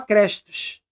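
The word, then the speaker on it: Χριστός: Cristos, cuja pronúncia na época seria igual a crestos.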